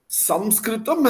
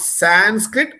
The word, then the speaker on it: Samskrit: Samskritam has the soul in it. Sanskrit is devoid of it. So right from the way we should pronounce it and say it is not Sanskrit but Samskrit, Samskritam.